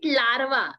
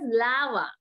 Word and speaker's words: larva: Don't say it larva. Its R is silent, so it is called as larva.